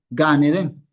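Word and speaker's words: גן עדן: Gan Eden. No una palabra, un concepto. Y se pronuncia como si fuera una sola palabra.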